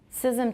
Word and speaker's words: schism: Schism to me is 2 syllables. But people I can see could easily count it as one.